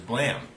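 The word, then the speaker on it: Blame!: i always appreciated was blam uh which which is spelled blame but they for some reason not to blame um which was this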